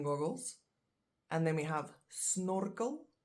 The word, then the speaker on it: snorkel: and then we have snorkel snorkel which is a snorkel just same same spelling different pronunciation and then which is